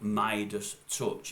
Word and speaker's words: Meidas Touch: about 24 hours it's on a channel called midus touch I think it's midus touch let me just